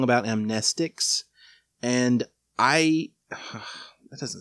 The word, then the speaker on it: amnestics: is you're wrong about amnestics. And that doesn't sound right to me still. The word should be pronounced amnestics, but because it's a